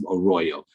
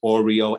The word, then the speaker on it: Arroyo: I have a last name that's hard to pronounce, Arroyo. Many people get that mixed up as well. I've been called Oreo, Ario, everything else except Arroyo.